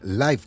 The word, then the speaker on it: live: Se pronuncia distinto como en Live concert, no como en I live here.